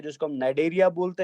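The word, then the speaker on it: Cnidaria: जिसको हम नाइडेरिया बोलते हैं। सी साइलेंट रहेगा बेटा, तो इनको निडेरियाज बोलते हैं, एन आई से शुरू करेंगे, या इनको सीलेंट्रेटास भी बोला जाता है।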